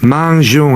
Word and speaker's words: mangeons: Ouais, 쥐 다음에 으 들어가 있죠. 이건 왠가 하면요. 쥐 다음에 그냥 오가 오게 되면 공으로 발음됩니다. 그런데 이게 manger니까 주 발음을 유지시키기 위해 가지고 으를 추가한 겁니다.